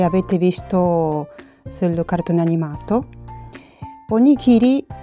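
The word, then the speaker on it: おにぎり: Onigiri in giapponese si scrive così, si legge onigiri.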